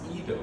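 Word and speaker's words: εἴδω: The word used in this particular text is a word that is pronounced Edo, roughly. It's pronounced Edo, and what Edo is,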